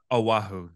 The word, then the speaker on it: Oahu: Oahu? Oahu. That's how you say it.